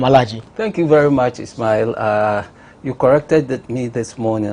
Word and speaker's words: Ismail: thank you very much Ismail you corrected me this morning I was saying Ishmael I think the Muslims that's how we pronounce it so the Arabic is Ismail and then the house